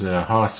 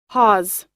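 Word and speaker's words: hawse: spike H aw s e I'm presuming you pronounce that Thomas but I'm not sure I don't think it's house as Hoss Cartwright in bonanza I think it's probably Hollis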